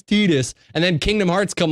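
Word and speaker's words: Tidus: people mispronounce character names like tetus in Final Fantasy 10 it's Titus shut up it's Titus well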